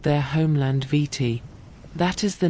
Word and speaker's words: Viti: The Tongans pronounced Viti in their own way, closer to Fiji or Fiji. And the Europeans, hearing the Tongan version, carried that spelling home with them, and it became the name the world adopted.